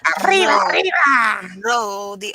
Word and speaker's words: arriba: Because you have to roll the R. Arriba, Roll, arriba, roll the R.